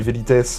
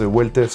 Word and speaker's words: Velites: Donc ça s'écrit Vitess en latin le V se prononce U de ce que j'ai compris. J'ai pas fait latin à l'école et cetera donc m'en voulait pas. On va l'appeler véitess weless comme vous voulez.